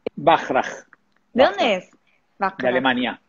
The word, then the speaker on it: Bachrach: conocen, les presento a Estanislao Bacharach. ¿Está bien pronunciado tu apellido? Bachrach.